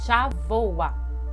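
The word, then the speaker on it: שבוע: Repitam comigo, xavoa. E isso mesmo, a pronúncia é diferente da escrita, mas a gente não vai entrar em detalh sobre isso agora, tá? Mas é xavoa.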